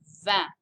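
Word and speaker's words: vingt: guess what 19 is d is nuff you remember and then finally we get to 20 which is van and do you remember how the numbers build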